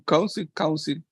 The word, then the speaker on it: council: What is the pronunciation council. Right here. Council. Council. Council. Council. Como el acento está en la primera sílaba, entonces la segunda se reduce en proporción, entonces council.